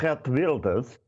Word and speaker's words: Geert Wilders: Hence, and I hope you're going to be impressed with the correct pronunciation, the election of Geert Wilders in Holland.